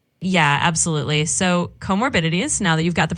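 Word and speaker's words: comorbidities: It's not commoderies.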